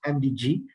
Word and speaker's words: AMDG: It's AMDG, but pronounced as MDG Bank, whereby we will allow